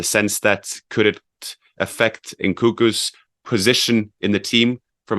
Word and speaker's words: Nkunku: Remember, they have the strikers and Nkunku.